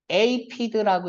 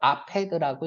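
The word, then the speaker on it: aphid: 에이피드라고 읽어도 되고 아페드라고 읽어도 돼요.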